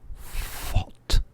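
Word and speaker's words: phot: Fot. And that's how it's spelt, P-H-O-T.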